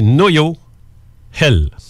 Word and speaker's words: Noël: La prononciation exacte, c'est Noyo-Hel. Noyo-Hel. Noyo-Hel. C'est du celte.